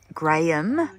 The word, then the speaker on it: Graham: um and graham crackers is that one syllable or two is that gram or Graham Graham Graham how's it spelled g-r-a-h-a-m interesting not Graham nope not Graham okay Graham Graham like like the weight measurement that's g-r-a-m I do believe English